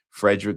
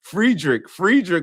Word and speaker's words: Friedrich: Frederick Nietzsche. Nishu. I appreciate you giving the pronunciation. Friedrich, first off.